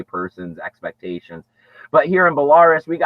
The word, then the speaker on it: Belarus: How do you pronounce this? Belarus? There you go. You got that right, Samantha. Belarus.